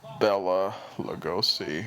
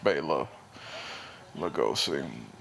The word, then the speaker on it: Bela Lugosi: uh bayla and bella they all referred to him as bella lugosi and that's you know was not how his name was pronounced bela lugosi oh i hate this